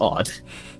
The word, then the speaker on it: od: what it is yeah i did pronounce it wrong last time and i did look it up it's literally just odd wait how did you